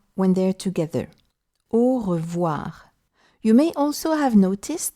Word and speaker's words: au revoir: The two letters OI, as in revoir, sound like wa when they're together. Au revoir.